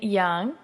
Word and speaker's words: Yeung: have a special guest my good friend Young am I saying it right yeah and we